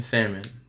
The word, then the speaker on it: salmon: It's the L is silent in salmon.